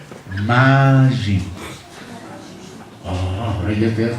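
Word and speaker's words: מים: Cielos se dice Shamayim. Y aguas se dice Mayim. Oh, ahora ya te das cuenta que son dos cosas muy cercanas. Mayim y Shamayim. Shamayim es cielos. Mayim es agua.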